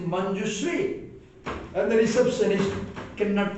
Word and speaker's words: Manjushree: She is not Manjuri, she is Manjushree.